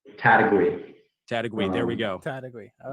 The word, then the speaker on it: Taitague: us for all time what is the correct pronunciation it is hard but um this is correct category there we go category all right in guam